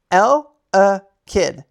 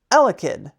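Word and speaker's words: Eelektross: Lid. Lid. Elicid. Not lid. Elicid. Elicid. Say it with me. L a kid. Elicid. When a storm approaches, this Pokemon gets restless.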